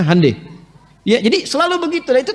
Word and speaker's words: Hyundai: Jepang Jepang bikin Honda mereka bikin hande Hyundai itu dibacanya hande ya jadi Selalu Begitu